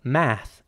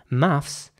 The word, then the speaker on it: maths: in American English there is no s at the end you know I'm talking about the school subject now math which they do in fact just call math and the a is once again pronounced like an a yes so math in American English maths in British English here's an example for